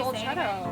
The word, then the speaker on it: Dolcetto: Dolcetto.